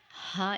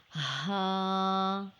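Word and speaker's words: ه: It is just like the English letter H sound. Ha is a light sound and vocal sound letter. It is pronounced from the deepest part of the throat.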